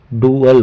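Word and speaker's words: dual: अर्थात जिसकी स्पेलिंग है डी यू ए एल डुअल इसका प्रोनंसिएशन डुअल होता है इसका अर्थ होता है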